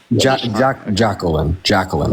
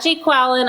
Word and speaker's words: Jacqueline: Jacqueline. Okay. Yeah, Jacqueline. Not Jake Quallen. I know the Key and Peele skit. Jacqueline.